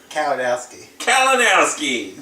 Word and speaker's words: Kalinowski: Kalinowski.